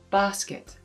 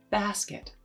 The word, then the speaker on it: basket: Salma pronounces it as ah in basket. But in your lesson, you'll learn exactly how to create an ah sound to be able to pronounce it as basket.